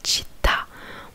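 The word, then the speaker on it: città: Par exemple, là j'ai un mot sous les yeux, chita, qui veut dire ville. En gros, chita, on appuie sur le A, sur la dernière syllabe, sur le A, et ça s'appelle l'accent tonique.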